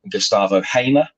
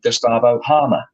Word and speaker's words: Gustavo Hamer: When he was at Coventry, the official Coventry pronunciation guy called him Gustavo Hamer. Sheffield United calls him Gustavo Harmer. So where'd you go with that? One of them is wrong.